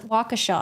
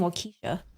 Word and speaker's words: Waukesha: in question November 21st of 2021 oh it's pronounced Waukesha I was saying well Keisha the defender Shah showed up in Waukesha in